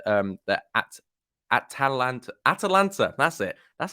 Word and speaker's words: Atalanta: That Atalanta, that's it.